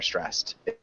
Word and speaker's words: stressed: when we are are stressed is one correction in stress no stressed it when we are stressed and it sounds like it's just ends with a T so is it correct